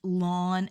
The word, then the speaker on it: ln: is this here and it's pronounced lawn X and it stands for the logarithm naturalis so instead of writing log base e you're now just going to write lawn and this is the